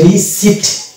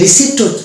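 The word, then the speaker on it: receipt: তাহলে এটা উচ্চারণ হয়ে যাবে রিসিট, রিসিট। এটাকে যদি রিসিপ্ট উচ্চারণ করে, আমরা এতদিন কিন্তু এটাকে রিসিপ্ট বলে আসছিলাম, অনেকে আমরা ভুল করে এটা উচ্চারণ করি রিসিপ্ট। রিসিপ্ট না, মানে প এ উচ্চারণ আনতে হবে না, প কে বাদ দিয়ে দিতে হবে।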